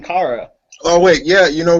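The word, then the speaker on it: Kara: only cat who mispronounced it no it's it's Cara it's pronounced Cara at least from what I've heard in every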